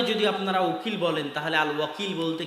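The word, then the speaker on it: الوكيل: উকিল তো আল্লাহ বলছে আমি উকিল আল ওয়াকিল শুদ্ধ উচ্চারণ আল্লাহ সুবহানাতায়ালার একটা নাম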